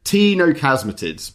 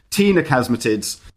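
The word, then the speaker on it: ctenochasmatids: called the tinochasmatids c-t-e-n-o-c-h-a-s-m-a-t-i-d-s t-no casmitids but spelt with the silent c see i'm just going to think of a lady called tina now tina tino tina casmatids and pterodactylus is one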